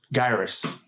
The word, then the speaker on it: Gyrus: Assuming that's what the game was called in Japan, it's Gyrus because they don't have a soft G sound.